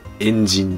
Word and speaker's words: 炎神: 炎の神と書いて、エンジンですね。